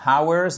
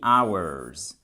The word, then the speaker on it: hours: et on dit pas hours on dit hours ici le H ne se prononce pas ils sont mariés depuis